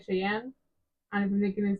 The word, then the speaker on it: Cheyenne: E is silent at the end of Cheyenne in English, but in Spanish the E's there, so you have to pronounce it Cheyenne.